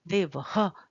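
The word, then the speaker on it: देवः: वि लगा होता है इसका उच्चारण थोड़ा थोड़ा ह जैसा होता है सांप के फुफकार की तरह रामह देवह मुनि ही गुरुह इस तरह से किया जाता है और इसका प्रयोग भी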